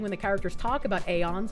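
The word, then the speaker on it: aeons: A is in day or pay. Ans like dons but with a broader ah father sound is the official pronunciation listed for the term in the game.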